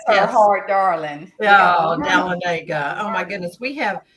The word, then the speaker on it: Dahlonega: yes, I have a friend who moved here from California, and she called it Dahlonega. And I said, oh, no. It's Dahlonega. Lanaga, yes. Bless her Yes. heart, darling. Oh, Dahlonega.